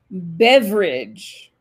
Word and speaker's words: beverage: qui va beaucoup mieux c'est quand vous faites l'accent tonique au bon endroit là vous mettez sur la première syllabe berridge et à travers tout ça semble beaucoup plus naturellement berridge père régis au pluriel beveridge au singulier nico tu peux le répéter s'il